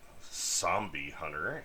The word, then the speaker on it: SombieHunter: There's SombieHunter, actually is how you pronounce his name, with an S, not a Z.